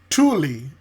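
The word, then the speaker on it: Tule: When I asked Google Gemini, I said, "What does the name Tuli mean?" Tuli tulle pronouns pronounced Tuli primarily refers to a species of large bull rush sed native to freshwater marshes in North America.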